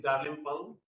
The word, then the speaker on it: Dalrymple: Dalrymple Dalrymple uh um The the pronunciation is Dalrymple, but but we call Dalrymple, you know.